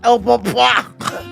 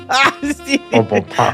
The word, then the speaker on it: Au Bon Pain: First of all, I don't know anybody who pronounces it like that, but go ahead. Sorry for taking French for 5 You're years. so bush. Au bon point. Au Bon Pain.